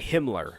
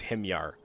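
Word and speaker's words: Himyar: I first started youtube I always used to pronounce these guys as him yarr or sorry Himmler I always used to say but it's him yarr yeah you just have to pronounce it the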